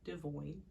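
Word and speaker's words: Devoin: If you didn't know, that's how you say his name, Devoyne, Brianna's baby daddy.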